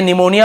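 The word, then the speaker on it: pneumonia: वैसे निमोनिया वगैरह भी 1-2 एग्जाम्पल है, लेकिन वहाँ पे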